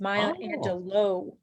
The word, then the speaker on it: Angelou: maya angelou angelo actually listened to an interview of her explaining how she pronounces her name and it's my angelo okay because i wish